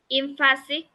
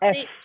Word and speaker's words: emphatic: Emphatic. Yes. Fa. P and H is F. Emphatic.